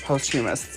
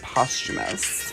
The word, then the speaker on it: posthumous: I thought it was posthumous. It's posthumous.